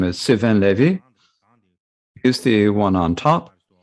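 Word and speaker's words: Sylvain Lévi: His name is Sylvain Levy.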